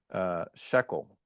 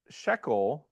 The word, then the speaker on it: shekel: Well, there's an accent mark, okay? Similar to how in Greek you have accent marks to make sure you're putting the right emphasis on the right syllable, right?